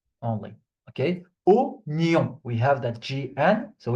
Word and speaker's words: oignon: Alors, oignon. Okay, so this word is the only exception in French where the OI is not pronounced wa. Okay, it's just O.